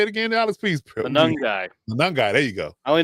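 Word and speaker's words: Monangai: Manungai. There you go. I only know because I Googled pronunciation.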